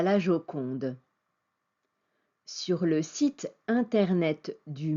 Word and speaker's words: Joconde: était appelée la jokonda son nom est prononcé Joconde en français on ne sait pas